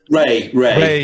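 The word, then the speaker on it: Rei: So a song like Rhea, is that how I pronounce it? R-E-I? Ray, yeah.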